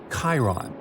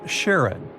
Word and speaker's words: Charon: Nix, Kerberos, Hydra, and the most mysterious one, Chiron, also pronounced Charon. So you can pronounce it however you like. I'm going to go with Charon.